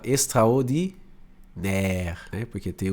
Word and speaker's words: extraordinaire: Quando você vê o A e o I do francês junto, ele vai ter um som de E, tá? Algumas coisinhas você já vai pegando, ó. Igual aqui, ó. Extraordinaire, né?